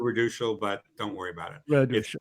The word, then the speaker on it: Raduchel: and career many pronunciation so normally I would do Redal but don't worry about